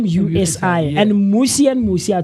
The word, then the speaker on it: Musi: You know, my name for that is that my name is Musi and a lot of people tend to mispronounce it and misspell it as well.